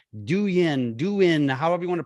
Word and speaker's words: Douyin: They have their own platform called Douyin, however you want to pronounce it, Douyin.